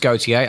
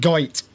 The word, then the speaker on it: Gotye: So yes, it's pronounced Gotye, as in Jean Paul. I always called it Goit.